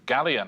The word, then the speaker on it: galleon: It rhymes with scallion. It's galleon.